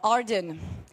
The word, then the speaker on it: Ardan: Uh Ardan, your name rhymes with garden.